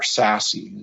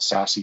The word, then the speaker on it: SASE: So when I say that, or SASE is how it's pronounced, at least that's how I've heard it pronounced.